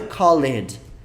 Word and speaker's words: call: dele Ronaldo não é Called É Call a pronúncia é tipo assim o hall essa pergunta essa palavra